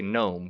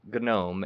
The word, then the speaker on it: GNOME: proper terminology but yes others may say gnome because it it it is spelled like a garden note but uh the the first is called gnome and then the second